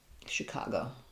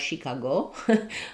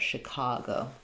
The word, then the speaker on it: Chicago: Um the letter ch say the I sound. So you can think about it like she cargo. Um, Chicago. Yeah, it's middle syllable stress.